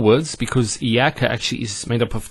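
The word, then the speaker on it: إِيَّاكَ: Iyaka. Notice the ya, it's a double vowel because of the shadda there.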